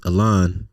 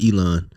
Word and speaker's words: Elon: Well, his real name is pronounced Elon, not Elon.